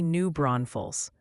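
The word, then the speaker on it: New Braunfels: The chat just formed a militia to inform you it's definitely New Bron Falls.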